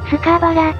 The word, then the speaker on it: Scarborough: ている限りでは、スカーバラと発音しています。